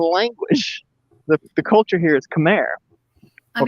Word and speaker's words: Khmer: The culture here is Khmer. Or Khmer, as they pronounce it.